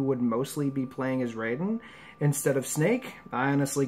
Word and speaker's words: Raiden: I said Raiden. It's Raiden, right? It makes me laugh because it's spelled the same way, Raiden, as Raiden from Mortal Kombat.